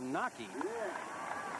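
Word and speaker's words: Wnake: Nockey, by the way, name is spelled W-N-A-K-E, but pronounced Nockey.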